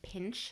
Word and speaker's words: Pinsche: Pinsche Me Pretty. No, it is Pinch Me Pretty.